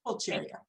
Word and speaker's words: Pulcheria: Faith Justice's book, Dawn Empress, tells the little-known story of Princess Pulcheria. Is that how you pronounce it, Dawn? Yes, Pulcheria.